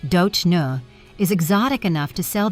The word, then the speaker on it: Dona: The first name pronounced Do Nu is exotic enough to sell the image, but simple enough for American audiences to remember.